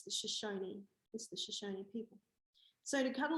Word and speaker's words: Shoshone: tell me that there was shush something. I knew there was 3 syllables, and you know, anyway, I looked into it, and it's the Shoshone people.